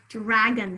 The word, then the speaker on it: dragon: more words in there dragon how about dragon drag bun drag on first syllable is drag easy to spell on is a schwa which vowel are you